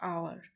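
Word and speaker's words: hour: I shall be back in less than dash आवर। तो यहाँ पे है तो कॉन्सोनेंट एच है, बट इज साइलेंट है एच, ठीक है।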